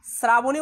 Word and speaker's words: শ্রাবণী: শ্রাবণী উচ্চারণ হবে স্যার শ্রাবণী।